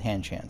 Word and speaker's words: Hanshan: called it hanshan um i don't think that they pronounce it in chinese but i guess that we're not speaking chinese we're speaking english and in this place they're pronouncing it han chan so i'll call it